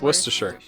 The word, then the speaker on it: Worcestershire: how it's said please it's well it's worcestershire yeah it's worcestershire it's worcestershire great because it comes from worcester that's how they pronounce it in england yeah it's worcestershire